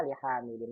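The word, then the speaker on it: لِحَامِدٍ: Kalau ini nggak ada alifnya berarti ini li dibacanya. Li, langsung li, ya gitu ya. Karena li huruf jar, ingat, jadi kasrah. Jadinya, hadza li Muhammadin wa dzalika li Hamidin.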